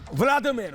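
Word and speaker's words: Володимир: और उस समय उनका एक राजा था, व्लादिमीर, वोलोदिमीर कहते थे, अलग अलग प्रोनाउंसिएशन है।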